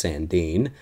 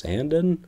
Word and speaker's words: Sandin: steal for us and I thought it was pronounced Rasmus Sandeen but when dubis announced that apparently it's Rasmus Sandin I don't know how